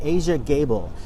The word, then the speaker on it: Aja Gable: how to pronounce it it's Asia like the continent and gable as in Clark Gable that's the way she